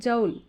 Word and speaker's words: joule: the vector quantity yester unit of work is joule or jowl some pronunciation no problem it is from the